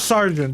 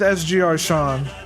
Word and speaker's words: SGR_Sean: I just go with sgr Sean that's that's fine the the sgr every initial you just say the letter like it's not like some people try to say it's sugar Sean like like the